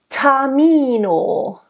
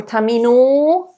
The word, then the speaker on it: Tamino: Tamino. You know, it's not Tamino or Tamino.